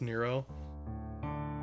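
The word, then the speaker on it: Nrvnqsr: and spellings of gnomes it's like neuro chaos it's spelt nerve and kisser and you know not even really gonna know that it's pronounced Nero and there's like three different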